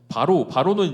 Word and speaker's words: 바로: 10절을 보면 바로는 이제 파라오죠. 파라오. 파라오의 어 이스라엘식 발음이에요.